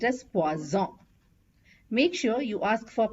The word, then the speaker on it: poison: is pronounced as p s and poison is pronounced as pazon make sure you ask for p which means